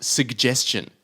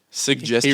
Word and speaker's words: suggestion: and another one is suggestion suggestion he really says both both the G in suggestion see Dad goes for